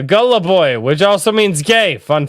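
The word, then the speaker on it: голубой: on for five dollars blue in Russian is pronounced uh Gullah boy which also means gay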